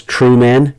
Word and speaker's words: Trueman: Trueman, spelled like it sounds, Truman, Carl R.